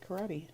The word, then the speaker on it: karate: letter word karate karate like one of the few exceptions like I can hear that a on the end usually it's a silent E so we would say like karate but in this case you actually say karate the English language has